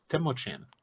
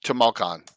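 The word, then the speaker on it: Tamoachan: Return to Temochan. I know I'm saying it wrong. Oh, Tamoakan or Tamoakan. Or whatever you have. How do you pronounce it, Jay? Tamoakan? Tamoakan. That's how I pronounce it.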